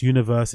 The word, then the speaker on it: UNVRS: This month, the largest nightclub in the island's history, UNVRS, pronounced Universe, is set to open.